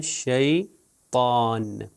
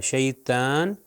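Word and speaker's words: شيطان: शैतान अजु बिल्ला मिन शैतान अगर मैं शैतान कहूं दो नुक्ते वाले ते से तो ये गलत हो जाएगा शैतान गलत है शैतान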